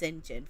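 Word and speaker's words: St. John: Though for some reason, the name Saint John, then their name is Saint John Rivers, but but it's pronounced Sinjin for some.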